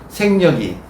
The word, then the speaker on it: 생력: 그러니까 반성할 때는 성이라고 발음하는데 힘을 뺀다고 할 때는 생이라고. 생략한다고 하잖아요. 생력이에요. 생력. 힘 빼기. 생력이 덕력이다. 힘을 얻는 것이다. 여러분 따라해보세요. 생력이 덕력이다.